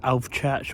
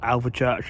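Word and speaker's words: Alvechurch: though but of course alv church or Alva Church Al how you want to pronounce it is west Ms where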